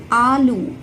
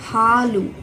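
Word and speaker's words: ಹಾಲು: It's not alu, it's halu.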